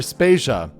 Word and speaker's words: Spacia: is jodevader and i'm spacia we're brought to you by anonymous dinosaur and rhymes with asia it's time to appreciate